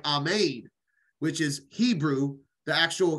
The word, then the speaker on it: amen: hello uh amen were you in your prayers amen is it uh actually pronunciation is not correct it's more like Ahmed which is Hebrew the actual Hebrew pronunciation for